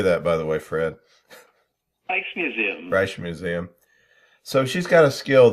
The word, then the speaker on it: Rijksmuseum: Rijksmuseum.